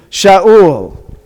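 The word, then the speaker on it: שאול: We got the Kamatz, A, and we've got that's called the Shurik, by the way, which is U. So how do we pronounce that? Shaul.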